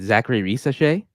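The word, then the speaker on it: Zaccharie Risacher: I'm just curious, and I hope I don't mispronounce his name. Zachary Risachet?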